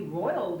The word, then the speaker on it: roiled: persnickety, it's R-O-I-L, and you ought to be saying I'm really roiled up if you're going to pronounce poison, poison, and all the rest of it.